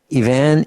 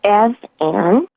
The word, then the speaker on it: Ivan: Shealy, we have Ivan in Pennsylvania. Am I saying that right? Yes, pretty close. It's Ev-Ann. Ev-Ann. Okay, well, that's how it's spelled.